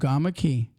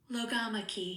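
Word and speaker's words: logomachy: word genius lamak lamak logo lamak Lo loog lamak key lamak key spell it l o g o m a c h y okay lamak key what does lamak key mean an argument about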